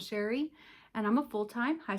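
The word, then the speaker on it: Chere: My name is Sherry and that is spelled C H E R E. It is spelled a little fancy but pronounced plain old Sherry and I'm a full-time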